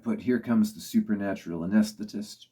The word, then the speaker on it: Anaesthetist: Number 76, I've put Here Comes the Supernatural Anaesthetist, or Anaesthetist, if you follow the pronunciation that Peter uses on the recording.